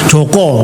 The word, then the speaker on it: Joko: seorang Arab suruh maksa-maksa Joko namanya. Mana bahasa Arab Joko? Tulisannya juga Juku loh bahasa Arab. Gitu? Ya, huruf Zin, Wau, Kaf, Wau, Juku namanya. Namanya yang benar Joko bukan Juku, karep-karep mulah.